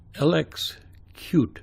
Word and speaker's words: LXQt: this is Gekko Linux LX cute as QT is pronounced and it's a third-party